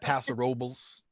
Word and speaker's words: Paso Robles: I'm just saying, you're obviously not local because you're saying it wrong. It's Paso Robles.